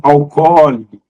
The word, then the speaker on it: alcoólico: As pessoas pronunciam alcoólico, alcoólico, marcando a sílaba tônica na pronúncia como có.